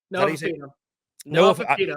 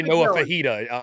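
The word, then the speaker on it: Noah Fifita: Noah Fafita. I always want to say Noah Fajita.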